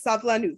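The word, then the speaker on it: סבלנות: So basically the word for patience is savlanut. And I say it like this because that's how you say it, okay?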